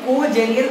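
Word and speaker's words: congenial: हैं, वो भी एक कोजेनियल वे में। लेट मी राइट दिस, कोजेनियल वे। यहां पर एन साइलेंट है।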